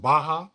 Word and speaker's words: Barra: I'm in Barra, I think they pronounce it Baja, but it's Barra.